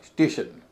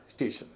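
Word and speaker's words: station: हो रहा है क्वेश्चन या स्टेशन एस टी ए टी आई ओ एन टी आई एन से पहले एक ही वोवेल है ए भारी बोला स्टेशन तो दो सिलेबल वाले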